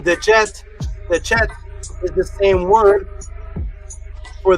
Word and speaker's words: Djed: This is what you'll pronounce as the DJED. It can be pronounced as DJED, TCHED, which is the same as the PESTCHT.